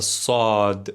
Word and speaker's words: ص: And then we have the saad, saad, sa sa. You almost want to say it as if you're a little bit angry.